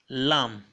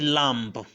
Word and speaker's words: lamb: see on the screen the first word is lamb listen to me again lamb I didn't say Lambo okay so the bidder is silence and so shouldn't sound out we also have it